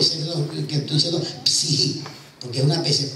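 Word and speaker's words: ψυχή: la palabra psiquis, pero se pronuncia psihi en el griego, esa es la pronunciación correcta. O sea, aprendí un griego, estudié griego y sé que estoy diciendo psihi, porque es una especie de psihi.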